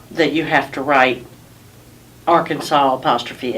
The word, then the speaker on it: Arkansas: on that was that at the end of the the name Arkansas you don't hear an S sound you hear it saying